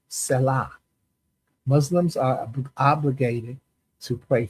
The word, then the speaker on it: salah: And I put in parentheses, I put the pronunciation to make sure I get it right, but it's salah.